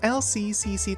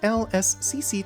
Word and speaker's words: LSCC: say uh it is LCCCC technology. That S is so stupidly hard to pronounce in the middle of that. Am I the only one who struggles with pronouncing LSCC and keeps going LCC?